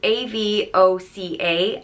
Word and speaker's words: Avoca: unique than some of the other names and it's spelled a-v-o-c-a and it's pronounced Avoca it comes from the